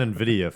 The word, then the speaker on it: NVIDIA: And NVIDIA for you guys that didn't know how to say it properly.